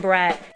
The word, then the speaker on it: beret: Retired Green Beret. Again, it's French, beret. B-R-E-T. Beret? So you just went... Okay. It's a silent letter.